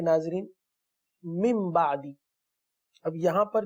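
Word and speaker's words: مِنْ بَعْدِ: तो नून साकिन और तनवीन को मीम से बदलकर इक्फा करते हैं, गुन्ना करते हैं, इसको इक़लाब कहते हैं. तो हमने मिन बादी नहीं पढ़ना बल्कि मिन बादी पढ़ना है.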